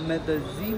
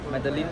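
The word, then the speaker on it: Medellín: आपका मेदेजीन में स्वागत करता हूँ। हाउ do pronounce it? मेदेलीन और मेदेजीन? मेदेलीन मेदेजीन, okay.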